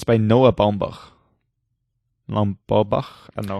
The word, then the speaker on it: Baumbach: And it's by Noah Baumbach. Baumbach. I don't know how you pronounce his name, even more American.